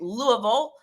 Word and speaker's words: Louisville: Michael Ray, if you don't know him, he is the founder of Smile Project Louisville.